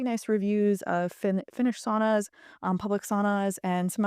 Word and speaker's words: sauna: experiences I had in sauna in Finland and Copenhagen. By the way, it's pronounced sauna, but I'm going to pronounce it sauna because I'm an American.